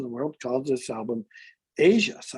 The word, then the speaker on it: Aja: album by steely dan the album title is spelled a j a which stevie then pronounces that as asia but voiceover does not